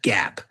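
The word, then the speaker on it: GAAP: This is pronounced GAP. G- AA. We don't say G- AAP. We say GAP.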